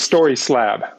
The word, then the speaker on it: StorySlab: story slab it is story slab so story slab okay yep story which you're familiar with and then slab which you know originally